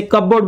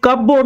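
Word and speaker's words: cupboard: अलमीरा बोलते हैं सेफ अलमारी को ही, जैसे कबोर्ड बोलते हैं, अलमीरा बोलते हैं। उसके बाद ये कबोर्ड नहीं है, ये कबर्ड है, यहां पे पी साइलेंट है, कबर्ड है, कबोर्ड नहीं है।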